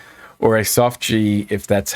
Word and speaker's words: GIF: Animated reaction with a hard G sound or a soft G if that's how you roll. Animate. It's a GIF. I go with the soft G. That's That's how I roll.